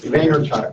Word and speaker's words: Vaynerchuk: read on Gary I can't really pronounce his last name vintage Vaynerchuk vaynerchuk there you go yes that from the